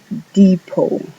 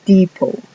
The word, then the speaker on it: depot: Es depot. Almacén o estación de tren. La T que tiene al final no suena.